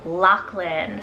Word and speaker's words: Lachlan: main character a little bit more common is lachlan spelled l-a-c-h-l-a-n lachlan this one here i feel